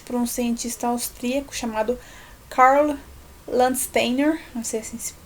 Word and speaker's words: Landsteiner: no século 20 para um cientista austríaco chamado carla landsteiner assim se pronuncia mas levando em conta então esse cara